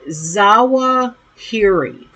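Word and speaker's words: Zawahiri: Uh, let me pronounce this correctly. Uh, Zawa Hiri.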